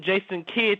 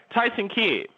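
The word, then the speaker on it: Tyson Kidd: in the back Prim example I was watching Jason kid to what's tyon that's it Jason k i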